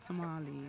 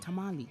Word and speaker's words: tamale: word tamale yes tamale it was pronounced tamale yes it tastes i get the pronunciation i mean it's like tamale yes so and and the funny thing is they both are nouns so tamale is the name of uh spanish i think it's a spanish dish okay spanish and it is so again that's how the the owners of the language pronounce it tamale it is tamale